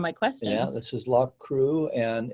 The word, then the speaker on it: Loughcrew: Yeah, this is Loch Crew, and it's up a very steep hill. And that's spelled, I was happy to have the notes because yes.